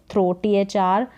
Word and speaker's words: through: थ्रो, THR का साथ में उच्चारण थ्र करके, थ्रो यानी फेंकना, जैसे बॉल को फेंकना, थ्रो, बॉल को फेंकना, थ्रो करना। और एक थ्रू होता है जिसकी स्पेलिंग अलग है, ये उच्चारण इसका थ्रो है, THROUGH, वो थ्रू होता है उच्चारण उसका।